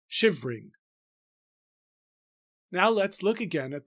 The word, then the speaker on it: shivering: there a possible variation if we pronounce the one additional unstressed syllable in shivering. But even that line may be intended to be regular if we take the E in shivering to be elided to shivering.